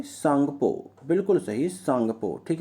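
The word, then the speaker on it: Tsangpo: बताइए दोस्तों जल्दी से, सांगपो। बिल्कुल सही, सांगपो। ठीक है ना, सांगपो। टी साइलेंट रहता है, टी सांगपो आप पढ़ सकते हैं या सांगपो आप कह सकते हैं।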